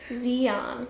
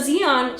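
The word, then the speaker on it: Xi'an: how to pronounce it x i dash i mean apostrophe a n zeon zeon is played by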